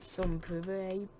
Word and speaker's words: Sans Pareil: believe it you're still around unmatched it's still some parade you know i know but it's french for your name still really weird though your name is spelled it's pronounced some puree but still you're still abound even after all